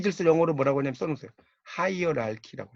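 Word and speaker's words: hierarchy: 하이어랄키라고 해요. 요게 이제 K 발음 나요.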